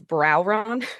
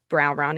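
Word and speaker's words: Brauron: I live very close to Vona, which in English is Browron. It's like a really butchered I don't know how we got there. Uh, but it's Vona in Greek. Browron in English.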